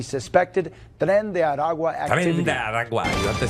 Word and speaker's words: Tren de Aragua: Tren de Aragua. You have to say it right. We are in the Tren de ABC 7 Aragua. Alert Center. Tren de Aragua.